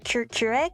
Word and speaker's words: Couric: I now know Katie Couric. Is that her, how you say it? It sounds like Keurig, like the coffee machine.